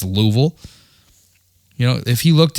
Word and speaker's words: Louisville: And he laughed at me and he was like, "L ui S V I L L E. Louisville." And I'm like, "Lewisville?" No. My brother, he he didn't know anything how to pronounce Louisville.